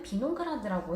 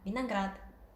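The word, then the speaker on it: виноград: 오 알파벳은 강세가 있으면 오 발음이 나고 강세가 없으면 아 발음이 납니다. 그래서 비나그라드라는 단어에서는 강세가 뒤에 아에 떨어지잖아요. 그래서 앞에 있는 이 오 알파벳은 아로 발음이 돼서 비나그라드라고 발음을 하시는 게 맞습니다.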